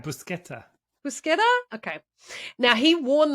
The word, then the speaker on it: Buscetta: You were saying it right, Buscetta.